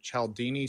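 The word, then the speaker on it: Cialdini: Now I might be mispronouncing his name. Chaldini.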